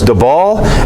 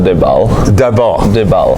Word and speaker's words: Dybal: how you say your name because I've seen pronunciation where it looks like it's dball and then others where it's dbal and then but the guys call you Dives